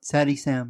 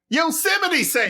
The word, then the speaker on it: Yosemite Sam: You're not saying it right. It is something Sam. Yosemite Sam.